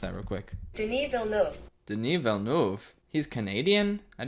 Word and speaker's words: Denis Villeneuve: I'm gonna look up how to pronounce that real quick. Denis Villeneuve.